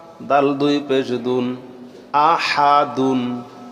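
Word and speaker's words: أحد: দাল দুই পেশ দুন আহা দুন আহাদুন থামলে হবে আহাদ আহাদ হবে কেন আরবি পড়ার সময়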